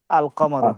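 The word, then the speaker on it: القمر: কামার আল কমারু। আল আল কমর কামার। এই যে এখানে আলিফ লামটা আবার উচ্চারণ হবে।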